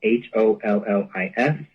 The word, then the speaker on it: Hollis: My name is spelled like Hollister, but it's just Hollis.